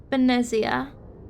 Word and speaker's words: Benezia: Benezia.